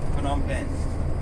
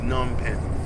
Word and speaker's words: Phnom Penh: Oh, it's like not PH, like That's Phnom Penh. Phnom Penh. Oh. It's just silent. Oh, H is silent. It's opposite from French. I mean, Phnom Penh. Oh, that's how it is. I have to uneducate myself to not pronounce PH.